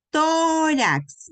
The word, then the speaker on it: tórax: Entonces, tórax, miren, lleva mayor fuerza de voz en la penúltima sílaba y no termina ni en N, ni en S, ni en vocal, sino termina en X. Entonces se tilda.